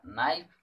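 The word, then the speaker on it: knife: मतलब यहाँ से कोड निकला के का वैल्यू यहाँ पे नहीं, नाइफ यहाँ जो पढ़ा रहा है के का, नाइफ के में साइलेंट रहता है इसलिए एन का हो गया टू, और यहाँ आई कटेगा ई कटेगा, और एफ का वैल्यू होता है 8।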